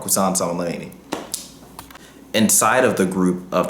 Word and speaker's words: Qasem Soleimani: an anti-Israel and anti-US terrorist organization led by Qasem Soleimani. Oh, I'm sorry, I'm saying his name wrong, Qasem Soleimani.